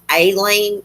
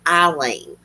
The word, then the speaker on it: Aileen: Sometimes I hear on documentaries Aileen, and sometimes I hear Eileen. I like to call her Eileen.